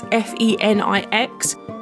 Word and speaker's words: phoenix: from the Latin word phoenix. Well, it is technically pronounced the same way, but it's spelt differently. It's Phenix.